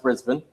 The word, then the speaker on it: Brisbane: right and you're the reason I know it's pronounced Brisbane yes and what are you buying things any